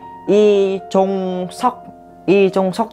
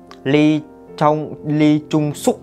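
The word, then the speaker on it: 이종석: Chúng ta sẽ có là Y Chung Sok chứ không có ai đọc là Ly Chung Sok đâu nha.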